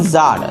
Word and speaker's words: tsar: টু a certain জার, certain মানে কি? কোনো এক। সার্টেইন মানে কি বললাম? কোনো এক। ওটা জার হবে, TSAR, টি এর উচ্চারণটা উজ্জ থাকবে, অর্থাৎ জার, SAR জার, তো টি এর উচ্চারণটা উজ্জ।